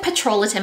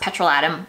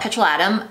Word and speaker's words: petrolatum: check it out so i said petrolatin in it but it's actually apparently pronounced petrol atom fine let's call it petrol adam that is what people